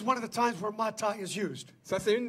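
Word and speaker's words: matah: It's pronounced mata. M-A-T-A-H, mata.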